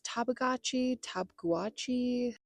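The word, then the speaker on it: Tabeguache: My plan is to run to the Mount Shavano and Mount, the queen of pronunciation, she strikes again. It's Tabguachi, Mount Tab.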